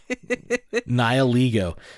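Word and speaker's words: Nihilego: said Nile ego so the proper pronunciation is in fact eglio Nile ego so it's a rocking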